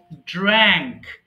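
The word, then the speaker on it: drank: মাঝখানে যে ওয়ার্ড আছে সেটা ড্র্যাঙ্ক, ড্র্যাঙ্ক, হবে, হ্যাঁ, ড্র্যাঙ্ক। আর যেটা লাস্টে আছে সেটা হচ্ছে ড্রাঙ্ক।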